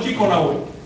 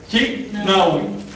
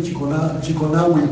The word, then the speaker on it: chiknawi: Con contracción, no Chico Nahui. Chiknawi. Pero son pequeñas variantes que me daba una alianza. Pero si ¿sí existe la pronunciación de Chiconahui? Sí. Chiconahui. Y se entiende igual.